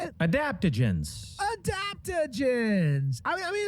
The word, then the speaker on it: Adaptogens: Adaptogens.